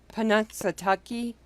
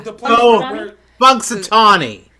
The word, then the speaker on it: Punxsutawney: Let's see if I can pronounce this one right. Okay. Panunsatucky. Panunsatucky. You know, like groundhog. That. Oh. Yeah. Punxsutawney.